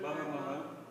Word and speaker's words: Bahama: That's right, Bahama. Sounds like the word Bahamas, right?